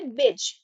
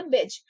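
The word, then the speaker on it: beige: बज। इसको आप डिफरेंट तरीका से मत पढ़िएगा। यहां जो लिखी हूं उसी तरह प्रोनाउंस कीजिएगा। बज बेच मटमेला या हल्का भूरा जो इस तरह होता है।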